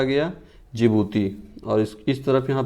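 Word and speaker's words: Djibouti: ईडी में क्या है, इरिट्रिया जिबूती, ठीक है, इरिट्रिया जिबूती। डी साइलेंट रहता है जिबूती में, जिबूती, ठीक।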